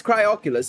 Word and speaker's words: Cryoculus: Yeah, it's Cryoculus. It's literally how I am pronouncing it.